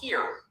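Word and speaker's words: Xeer: But there's one that precedes that, which is called Kir, the word that's spelled with an X up on my slide.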